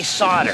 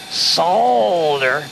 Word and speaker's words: solder: is a strange word you don't pronounce the L you just say solder if you say solder the clerks are going